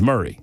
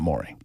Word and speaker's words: Murray: And I explained to this lovely listener that I pronounced it Mari County when I first got here and I was excortiated by the listening audience. That it is Murray. It is not Mory.